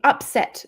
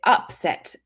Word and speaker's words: upset: So just remember the first syllable, if it's stressed, it's a noun.